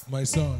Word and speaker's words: MYSSONE: How do you pronounce it? MYSSONE.